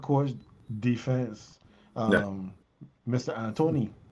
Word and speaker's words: D'Antoni: Antony, because we can't call it D'Antoni. There's no D in his name. The D is silent.